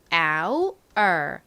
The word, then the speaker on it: hour: 가장 앞에 묵음인 알파벳이 들어가는데요. 어떤 알파벳이었죠? H입니다. H가 있으나 히읗 소리는 나지 않아요. 그리고 뒷부분은요. 아우 소리 나는 이중 모음인 OU에다가 R 소리 나는 알파벳 R이 와요. 그래서 hour, hour 이렇게 발음이 됩니다.